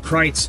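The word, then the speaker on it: Kreuz: r EU u z it kind of looks like Cruz but it's pronounced kites because it's an old German family um but kites is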